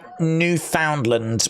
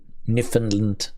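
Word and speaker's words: Newfoundland: will uh Carla said I'm from uh New Foundland which is not how you pronounce it n land nland nland uh we call it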